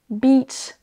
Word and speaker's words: beach: Sheet, beach, là vous entendez, c'est un I long. On traîne un tout petit peu sur la syllabe. C'est un son qui n'existe pas en français, donc c'est pour ça qu'on a du mal à le faire, nous, francophones. On va remplacer tous les